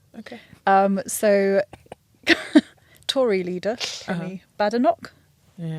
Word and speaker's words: Badenoch: So Tory leader, Penny Badenoch. Yeah. Is that how you say it? Yeah.